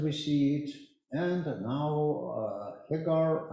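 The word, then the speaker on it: Heegaard: And now Hegar, I'm not sure in my pronunciation of this mathematician in Russian, he's pronounced it like Hegor, and something like that is correct for this Danish name.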